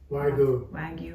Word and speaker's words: Wagyu: the angus ragu right you spell it w-a-g-y-u wag you beef wiggle beef has smart